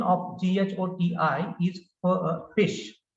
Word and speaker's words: GHOTI: Naturally, you'll pronounce it as goti, but this is fish.